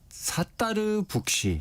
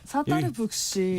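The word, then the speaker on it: Sattar Buksh: 여기는 사따르 북시. 사따르 북시. 이게 이제 영어 스펠링으로 말씀드리면 SATTAR, 그래서 사따르, 스타랑 좀 비슷하죠.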